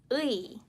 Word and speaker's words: 의: So as for this 의, it has to be 의, as if you were quickly saying the and 의, but the emphasis is more here in this